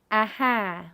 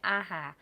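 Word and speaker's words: អាហារ: big syllable divide okay aha once again the ha if you're an native English speaker you'll probably want to read it aha but it's Aha and this means food there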